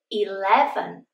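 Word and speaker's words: eleven: 11. 11. L is the strong sound.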